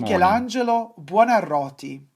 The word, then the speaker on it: Michelangelo Buonarroti: Su nombre se pronuncia así. Michelangelo di Lodovico Buonarroti Simoni. Michelangelo Buonarroti.